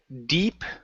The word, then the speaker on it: deep: we have the word deep okay um so instead of dip enough it's D deep enough deep enough good